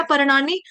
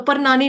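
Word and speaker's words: पर्णानि: अब यहां पे ण बान वाला लगाया परनानी तो क्या आ गया पत्ते जब हम बोलेंगे परनानी तो क्या मतलब हो जाएगा मम्मी की मम्मी की मम्मी की मम्मी मेरी नानी की मम्मी परनानी तो परनानी नहीं है परानी ठीक है तो इतना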